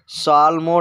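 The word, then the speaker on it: psalm: तो इसको बोलते हैं साल्म डाई साल्म ोड आइज माने होता है भजन गाना यहां पर पी साइलेंट होगा फ्रेंड्स साल्म ोड आइज में यह आपको ध्यान देना है नेक्स्ट वर्ड है पंडाल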